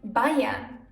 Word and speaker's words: Bayern: But it can also be pronounced as I, like in Bayern.